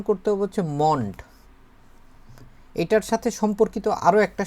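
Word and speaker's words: Mond: মন্ড আর মুন্ড এর মধ্যে একটু উচ্চারণ যদি এদিক ওদিক করেন তাহলে কিন্তু হচ্ছে যে শ্রোতা সে কিন্তু ভুল বুঝবে। এজন্য হচ্ছে আমরা এই বিষয়ে হচ্ছে সতর্ক থাকতে হবে।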